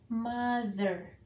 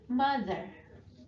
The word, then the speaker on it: mother: Okay, be careful when you pronounce TH. TH-nya pengucapannya adalah gitu ya. Jadi lidahnya di antara gigi kemudian ditarik ke belakang. Father, mother. Okay, father, mother.